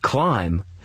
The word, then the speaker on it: climb: In the word climb, you don't hear the B on the end.